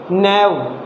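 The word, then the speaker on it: knave: नैव, ये भी है, नैव मीन्स क्या होता है, नौसिखिया होता है, काफ़ी इम्पॉर्टेंट है, इसमें भी के लेटर साइलेंट है।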